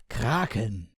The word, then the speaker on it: Kraken: or kraken like ship in german it would be pronounced kraken the ship itself is named mr.